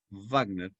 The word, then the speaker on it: Wagner: wagner wv aclaró que se pronuncia en alemán labio dental wagner y no cultural como